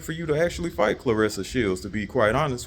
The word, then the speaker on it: Claressa: But, I don't really think it's meant for you to actually fight Claressa Shields, to be quite honest with you. And yes, the proper pronunciation for the goat's name is Claressa, not no Clarissa.